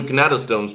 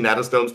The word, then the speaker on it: gnathostomes: Also, I know I'm technically mispronouncing. It's actually gnatostomes. The G is actually silent, but I learned I learned the word from people who apparently said it wrong. So in my head, the G is pronounced.